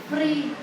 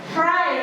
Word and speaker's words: fry: Free. Apa fry ya? Fry, bacanya fry.